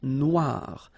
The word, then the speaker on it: noir: Then here, la mer Noire. Same thing here. That we had previously, final not pronounced, okay? And then OI, remember, wa wa wa, noir, noir. La mer Noire, okay?